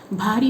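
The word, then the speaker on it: भारी: So you have to pronounce properly ba and bha. Bhari means heavy.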